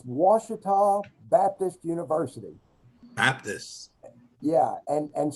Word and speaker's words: Ouachita: in the far west, called the Ouachita, but it's spelled the way you would expect it to be spelled, Washita. Well, we have a river too, the Ouachita, but it's spelled Ouachita. And so, we're called Ouachita